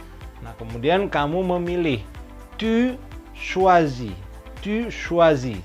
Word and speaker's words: choisis: Tu choisis. Tu choisis. Sama ejaannya tapi S-nya juga tidak dibaca.